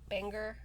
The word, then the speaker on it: Bangor: Bangor.